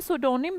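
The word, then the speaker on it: pseudonym: तो बोल रही हूं एस से शुरू नहीं होता पी से शुरू होता है बोलते सोनिम है किसी का डिफरेंट नेम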